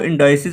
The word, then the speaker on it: indices: आज हम डिस्कस करने वाले हैं इंडिसेस के बारे में। इंडिसेस को इंडाइसिस भी प्रोनाउंस किया जाता है, इनको अलजबरा में यूज़ करते हैं।